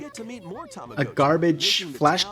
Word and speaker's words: Tamagotchi: It's Tamagotchi, not Tamagotchi.